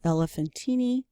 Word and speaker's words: Elephantine: But an example, we have a stash of literature from a place called Elephantine, and I know it doesn't look like that, but that's how you spell it.